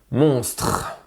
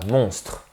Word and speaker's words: monstre: trois consonnes qui s'enchaînent monstre et il y à un e qui quand on parle naturellement ému mais on ne l'entend pas monstre c'est seulement quand j'essaye